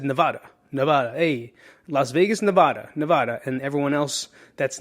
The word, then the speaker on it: Nevada: standing there it says locals say niv dash ah da nevada nevada not ah i said it wrong not it's not nevada it's nevada sounds weird right you try it nevada